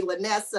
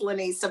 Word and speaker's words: Lynesa: Lynesa, but if it's, I know I've been told that it's been phonetically spelled wrong. You have to blame my parents for that, but most people call me Lynesa, and I'm like, no, it's Lynesa.